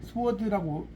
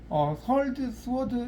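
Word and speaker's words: swords: 스워드라고 발음하면 안 돼요. 칼이죠, 칼. 자, 이때도 타로 용어에서는 서울드, 서울드인데 보통 칼이란 말 더 많이 써요.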